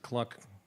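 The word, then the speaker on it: Glück: I'm going to read just one poem by Louise Gluck, and I pronounce it Cluck because, as I wrote in another poem, everything's funny that rhymes with fuck.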